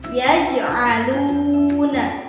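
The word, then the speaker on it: يَجْعَلُونَ: Contohnya yaj'aluna. Huruf kol-kolahnya di sini huruf jim, ya. Dibacanya mantul. Yaj'aluna. Cara membacanya dipantulkan dengan pantulan yang tidak terlalu berat.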